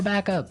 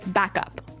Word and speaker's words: backup: point out that here the pronunciation and stress of this phrase is really important, hey? Yes, yes. You have to say backup. Backup. Backup. Yeah. So both words are stressed at about the same level, hey?